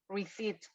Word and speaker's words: receipt: Aquí tenemos dos consonantes juntas, la P y la T. ¿Cuál suena nada más? Receipt. La T. La T, la P no se pronuncia, okay, receipt.